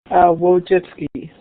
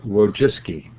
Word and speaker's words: Wojcicki: Wojcicki. Wojcicki. Yes. Did I get that right? You've got it right, yes. It's actually not pronounced the way it looks phonetically. It's Polish, of course, and so it's a